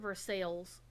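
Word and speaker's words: Versailles: thoroughly um money gulping uh Palace only they pronounce it for sales yeah yeah you found no sign of the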